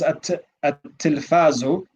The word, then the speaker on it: التلفاز: Remember, the ta is a sun letter. So the ta takes a shadda and we drop the lam in pronunciation.